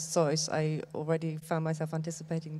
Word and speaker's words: Zeus: Then in German we pronounce Zeus.